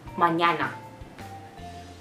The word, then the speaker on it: mañana: is the you know mixture of N and Y sound so it is MA and there are many letters which have this many girls in fact which have this letter for example tomorrow in English language means manana in Spanish language so it would be mañana other than that something